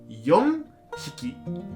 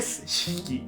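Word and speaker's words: よんひき: Trong trường hợp đó, đó là "yon-hiki" (bốn con chó), chứ không phải "shi-hiki" (bốn con chó). "Shi-hiki" khó phát âm.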